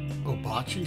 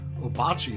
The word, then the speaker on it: Ouabache: bears the name wabash obachi is difficult to spell but easy to pronounce in 1829 the